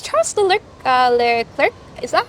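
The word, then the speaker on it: Leclerc: race last year yeah yeah my it's Charles cler is that how you pronounce his name Charles Le cler Oh Charlotte Clair yeah yeah Charlotte CL still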